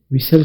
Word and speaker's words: whistle: आवाज़ में तो ये WISL है, लेकिन आपने ये स्पेलिंग याद करने हैं, WHISTLE। अगरचे इसमें ना H की आवाज़ है, ना T की आवाज़